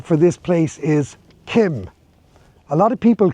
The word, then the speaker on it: Keem: Island, the correct name for this place is Keem. A lot of people call it Keem because it's spelled K-E-E-M, but the actual correct pronunciation is Keem.